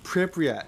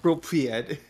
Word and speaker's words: Pripyat: It's Pripyat, not Propriet.